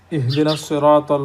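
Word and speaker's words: اهدنا الصراط: লাম যুক্ত হয়েছে ঠিকই, লাম উচ্চারণ হচ্ছে না, কাজে এটা সূর্যাক্ষর।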